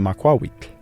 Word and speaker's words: Macuahuitl: And that's why it's correctly pronounced the Macuahuitl.